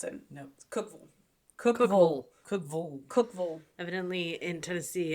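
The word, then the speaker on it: Cookeville: aired apparently we said we stopped and cooked cville Cookville for um for Waffle House correct that's not how you pronounce it no Cookville Cookville Cookville Cookville evidently in Tennessee every Ville is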